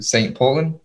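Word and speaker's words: St. Pölten: He's an FC Bayern Munich player on loan to St. Poland.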